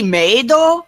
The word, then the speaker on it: Maido: It's supposed to be Maido, which is like how the Japanese pronounce maid, but they spelled it